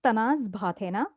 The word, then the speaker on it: Bhathena: I pronounce my name as Tanaz Bhathena. Usually, the last name is tricky because it comes from an old Parsi village in Gujarat called Bhatha. So it's like from Bhatha, so Bhathena.